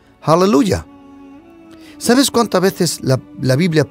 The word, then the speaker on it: aleluya: más menciona la palabra aleluya al él o hallelujah nosotros pronunciamos español aleluya sabes cuántas veces la